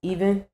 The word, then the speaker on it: EVN: EVN mean um so my company is pronounced even um so yes the backwards three is an e um the three just